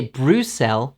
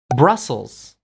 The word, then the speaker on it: Brussels: say buddhist in english you don't say bruce l you say brussels brussels it's kind of similar but it's a little different brussels brussels blossom sprouts